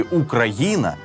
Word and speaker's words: Україна: якою говорять її діти Схоже що ні адже наголос у слові Україна саме на літеру г так само як і